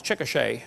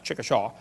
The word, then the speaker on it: Chickasha: it 2005 textbook and I pronounced it wrong as Chickasha that's Chickasha Chickasha Oklahoma I got corrected during